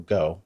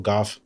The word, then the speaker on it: Gough: so mike will go i believe we're pronouncing that correct it's michael go right not michael gough yeah sure it is